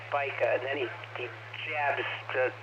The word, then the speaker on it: Spica: says spica uh because i mispronounced spica long ago like 10 years ago i mispronounced it as spice up it's spica and then he jabs